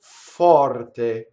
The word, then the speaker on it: forte: Orre possente tu forte. So you see, all of those doubles happen, right? E tu orre possente tu forte. So the word forte means strong. Its R is rolling.